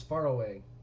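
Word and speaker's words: Faroe: Oh, actually, and the way they pronounce it is far away.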